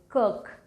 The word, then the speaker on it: Circe: The Greek pronunciation for this word is kirk, but let's just pronounce it Circe because I like this better.